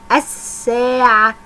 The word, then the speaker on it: الساعة: اللام القمرية ان انا اسمع صوت اللام. اللام الشمسية لا تنطق ولا اسمعها. نركز كده مع بعض في نطقي ونشوف كل كلمة هتكون مكانها فين. الساعة، انا قلت حرف اللام؟ لا، يبقى في الشمسية.